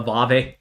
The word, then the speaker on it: Aave: I see one for a Aave. I get I get hammered by some of you guys because I can't pronounce all these names right. I'll get emails saying it's it's AAV, not a it's just funny to